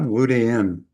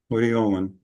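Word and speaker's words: luteolin: Not luden. Ludyolin.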